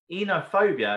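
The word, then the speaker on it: Oenophobia: Enophobia, it's got a silent O.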